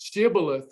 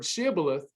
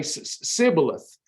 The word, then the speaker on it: Shibboleth: But the thing was, the Ephraimites, even though they stole the password Shibboleth, they could not pronounce it. They would say Sibboleth.